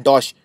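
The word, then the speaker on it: Deutsche: डॉश bank, इसको pronounce करते हैं डॉश, डॉश बैंक है जर्मनी का।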